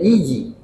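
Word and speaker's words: الإيجي: Jika serahannya nisbatun ila Izi, dengan kasrah hamzah dibacanya Iji, hubungan kepada Iji, negara di Faris, wahia min bahril kamil, baharnya bahar kamil.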